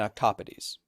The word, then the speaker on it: octopodes: decision based on the consciousness of crabbies and octopodes. which is the correct way to pronounce it if you want to sound really annoying about it.